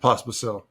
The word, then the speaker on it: Pospisil: Did I pronounce that right? Correct. Perfect. Pospisil.